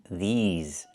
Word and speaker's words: these: I need the long e like green beans. These plus the z sound like in zebra and zipper. These these words, not this words, but these words.